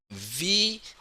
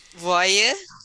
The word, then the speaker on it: voir: it's not voyeur. Okay, it's voir. VOIR. So OI we pronounce wa. So after this, when you see that word, no voyeur anymore, is voir. Voir. OI, the combination of I makes wa sound.